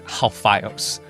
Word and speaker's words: Alphaios: The Greek word for Alphaeus is Alphaios, which when you pronounce it like you would in Hebrew, sounds more like Cleophas or Klopas.